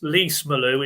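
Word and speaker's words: Lees-Melou: Lease Malou is lease as in car lease.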